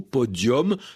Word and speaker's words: podium: avec un nu qu'on prononce comme un eau podium, prononciation ancienne de cette langue latine qu'on va retrouver dans d'autres mots podium, forum, décorum, sérum et cetera.